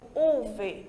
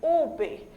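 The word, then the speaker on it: uve: Então, a letra V, nosso V de vaca, em espanhol, a gente pronuncia como se estivéssemos pronunciando o nosso B de bola. Por isso que eu não digo UV, eu digo UB, certo? Porque aí eu tenho a palavra vaca, vacaciones. Então, a gente vai pronunciar sempre como se estivesse falando a letra B do português.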